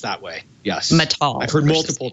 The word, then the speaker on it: Matal: Matal. I've heard multiple pronunciations.